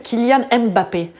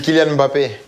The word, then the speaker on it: Kylian Mbappé: y a énormément de Français qui vous appellent Kylian Mbappé. Est-ce que c'est comme ça qu'il faut prononcer? Non, ah. non, mais voilà. Bon, j'aurais beaucoup de travail si je devais corriger tout le monde. C'est Kylian Mbappé.